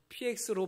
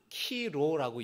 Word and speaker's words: 키로: 그래서 저 X는 헬라어로 키라는 알파벳이고요. 그 다음에 글자는 로라는 알파벳이에요. R 발음이 나는 겁니다. 그래서 PX로 말하는 게 아니라 키로라고 얘기를 하는 거예요. 어디 가서 여러분 저런 것을 보시면은 야 PX라고 말씀하시지 마시고 그러면 무식이 탄로나니까 키로라고 얘기를 하세요.